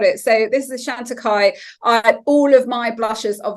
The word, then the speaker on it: Chantecaille: Chantecaille. Pardon? Is it Chantecaille? Is that how you pronounce it? Chantecaille.